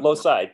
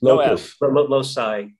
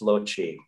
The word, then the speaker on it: loci: about locust locus loci yes did i just pronounce that is it losis no not low side loci if you do classical latin it's lochi so i when i studied latin you know